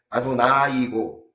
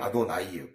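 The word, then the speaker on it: אדני: 같은 아도나이란 발음인데이 앞에 아도나이고 뒤에는 아도나이예요. 짧게 발음이 짧게 발음하냐 길게 발음하냐의 차이가 그 하나님을 가르키는 용어가 될 수 있고 하나님이 아닌 그냥 주인님 이런 표현이 될 수가 있거든요.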